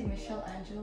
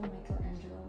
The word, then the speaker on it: Michelangelo: it the Michael the how do you say Michelle Angel Michelangelo the one Michelangelo the Michelle Angelo you see